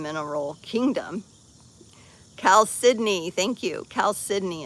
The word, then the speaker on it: chalcedony: Chalcedony is how it's pronounced.